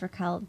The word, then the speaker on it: RAQUEL.: sorts of stuff it's Rael dot there is a DOT oh yeah we were going to ask about that although but but you don't pronounce it though you don't pronounce the dot silent yeah cuz you